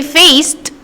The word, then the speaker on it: faced: When you say faced, yung end doon na letter D, hindi mo siya pronounce as D. Hindi siya faced. No, it's not. You try doing it. You try pronouncing it. Ang lalabas na sound is T. Faced. See? Faced. T yung lumabas doon. T yung narinig mo, therefore T yung stroke.